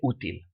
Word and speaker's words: útil: So you see that útil, it ends in an L. We should pronounce it útil, but we don't say útil, we say útil.